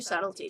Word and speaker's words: subtlety: It would take a genius of true subtlety to improve on the existing canon. A genius of true subtlety. Subtlety. The B is silent.